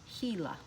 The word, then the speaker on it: Gila: hurt it's just a trick bad bite the gila monster is a poisonous lizard its bite is painful it can make other animals sick and this word is pronounced gila scary costume the frilled lizard puffs out its